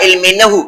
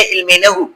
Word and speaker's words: علم نحو: ہیں علم نحو یا علم نحو. اصل تلفظ ہے علم نحو، لیکن اس کو ہم غلط العام جو ہے وہ علم نحو بولتے ہیں.